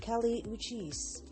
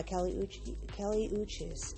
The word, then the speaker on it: Kali Uchis: Kali Uchis. I believe I'm pronouncing that correctly.